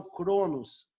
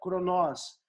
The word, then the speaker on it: Cronos: também, kairos e cronós, ou alguns falam cronos, mas eu acredito que a pronúncia correta seja cronós, que é o tempo do homem.